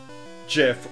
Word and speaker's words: GIF: So I had joined a pixel art group, and they were doing a community GIF or GIF, however you want to pronounce that. By the dictionary, both are correct, so no arguing.